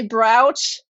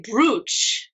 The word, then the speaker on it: brooch: I used to say bro because I never heard anybody use this word and only read it in a book so I pronounced it the way it's written b r o o c h bro and then uh